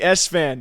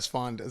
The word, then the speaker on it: Esfand: special interview we got the one and only s fan that's that's how you pronounce it right yes it is it is it is San sometimes people say sond Seer says sond is a joke a lot